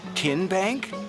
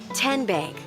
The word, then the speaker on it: TN Bank: Tin Bank. Uh-uh. So, what is it? Tenbank. 10 as in Tennessee. Right here where all our